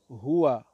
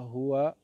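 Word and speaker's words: هو: Alors, ceux qui sont absents, il y a huwa. Huwa. Et lorsqu'on s'arrête sur huwa, dans le Coran, on ne dit pas huwa, le waw, on ne le prononce pas. On dit hu. Comment on dit?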